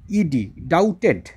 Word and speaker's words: doubted: এই বানানটা ভালো করে খেয়াল করো, ডাউট, এর স্পেলিংটা খেয়াল করো, দেখো DOUBTED, ডাউটেড, এখানে ওই বি এর উচ্চারণটা হয় না, তোমরা এটাকে ডাউট বলবে, ডাউট বা এখানে হচ্ছে ডাউটেড, পাস্ট টেন্সে আছে।